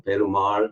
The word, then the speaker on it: perumAl: For example, perumAl, this capital A is an elongated vowel. This L, the capital L, is la instead of la, for example.